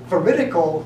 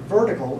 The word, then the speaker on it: veritical: like the word vertical it's not vertical it's veritical four syllables not three and we can talk